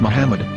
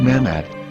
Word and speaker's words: מחמד: yehuda's hebrew english dictionary it is correctly pronounced as muhammad not mahmoud so how we're going